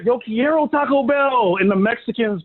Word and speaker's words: Yo quiero: need to learn that in Spanish, we don't pronounce the R's, we roll our R's. So it's not Yo Quiero, it's Yo Quiero.